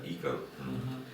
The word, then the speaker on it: Ícaro: Ícaro, потому что на испанском произносится Ícaro.